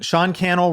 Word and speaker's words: Sean Cannell: I appreciate it Sean Sean Cannell rhymes with YouTube channel um that's on uh